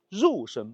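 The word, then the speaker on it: 肉身: 所以这里呢就用月代替了肉，但是读音上呢还是读肉，所以应该念护国肉身宝殿。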